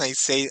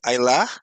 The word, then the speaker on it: Isa: name at the beginning I say AA it's the way that we pronounce it on French but in Portuguese or in English Isa okay and thank you